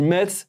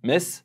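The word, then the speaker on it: Metz: Est-ce qu'on dit Ms ? Est-ce qu'on dit mess ? Mess m Je me suis fait taper sur les doigts à chaque fois. Moi mais ça s'écrit TZ les gars.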